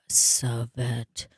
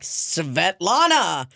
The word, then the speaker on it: Svetlana: right before either way Greg tried to pronounce my mom's name and could not figure out he was like sovet and then he finally got it on the last one he's like Svetlana well that's not exactly